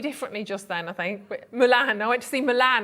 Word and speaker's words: Mulan: But you pronounced it slightly differently just then, I think. Mulan.